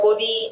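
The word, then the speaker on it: गोदी: often referred to as godi media godi of course while it R rhymes with Modi it it actually means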